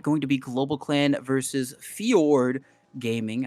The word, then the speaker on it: Fjord: Going to be GlobalClan versus Fiord Gaming. I don't know if I'm necessarily saying that uh correctly. They've got the the Fjord. There we go. They got the Swedish, I guess, pronunciation going on there.